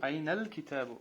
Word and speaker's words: أين الكتاب: Айналь китабу. Айналь, потому что алифлям камария, да? Каф, у нас буква камария.